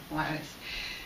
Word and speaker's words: Juarez: So the J's are like H's in Spanish, and when they're first, you kind of say, so Juarez.